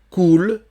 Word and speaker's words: coule: Sous le pont Mirabeau, coule, O-U, c'est OU. Le E final, il n'y a pas d'accent, on ne le prononce pas.